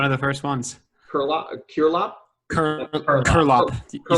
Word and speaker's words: Curelop: Curelop, is it? No, you said it right the first time, man. One of the first ones. Curelop? Curlop.